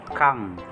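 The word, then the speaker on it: 강: Sunod po, kang. Pag nasa na po, K po ang bigkas nito. Sunod po, yung A naman po. Tapos, yung ending consonant na NG, yung bilog po. Kang. Ang basa po ay kang.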